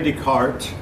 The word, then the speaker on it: Descartes: First one we'll talk about is René Descartes. Obviously, you can tell he was French. His name is not pronounced the way it's spelled, at least not in English.